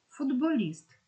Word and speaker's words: футболіст: кінці складу не оглошується футболіст тут він також є бо дзвінки б впливає на попередні і робить його дзвінки і город він також